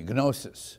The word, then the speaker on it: gnosis: It's spelled Gnostic, but don't pronounce it that way. It comes from the Greek term gnosis. There you can use the hard G, gnosis, which means knowledge, but